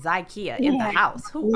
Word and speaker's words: Zakiya: No, that's not right, but No. that's okay. It's Zakiya.